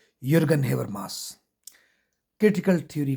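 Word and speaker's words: Jürgen: यरगल था जे साइलेंट है तो इसलिए युगन हेबर मास क्रिटिकल थ्योरी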